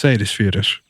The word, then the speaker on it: Seyðisfjörður: And I don't know if you got that pronunciation, but it's Seyðisfjörður.